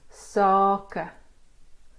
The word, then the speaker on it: sake: If it's an open syllable, it means it ends in a vowel, and that vowel is a long sound.